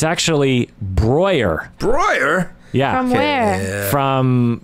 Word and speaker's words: Breuer: I would say Bre Bre BR bre Breuer Brewer even though it's Brer yeah I thought it was Brewer because that's